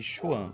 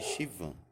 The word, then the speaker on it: Schwann: o oligodendrócito, mas é chamada células de Schwann ou células de Chivan. Tá? Fique à vontade para pronunciar da maneira que vocês preferirem.